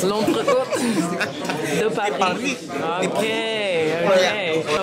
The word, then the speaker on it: L'entrecôte: Wait, what can you de pronounce Paris? It for us? L'entrecôte. L'entrecôte.